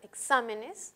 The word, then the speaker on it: exámenes: no debe llevar tilde al volver la plural exámenes ya no es grave es esdrújula el acento se desplaza a la sílaba anterior que en realidad sigue